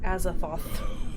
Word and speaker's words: Azathoth: Azathoth. Okay, that's how you say it. Azathoth. There's so many fucking syllables in Cthulhu names.